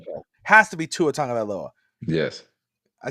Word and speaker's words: Tagovailoa: Has to be Tua Tagovailoa. Yes. I said that last name correct, right? I got Tagovailoa. Yeah. So Tagovailoa.